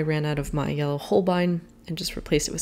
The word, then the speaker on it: Holbein: i am using a holbein i think that's how you pronounce it holbein i feel like you have to say it very german horbine probably just blew out